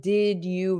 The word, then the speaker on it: did you: you can start with did you remember? So notice the pronunciation. Did you? Did you? J. There's going to be a J sound.